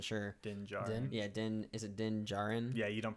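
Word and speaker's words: Din Djarin: because i wasn't sure yeah then is it din jaren yeah you don't pronounce the d in the second in the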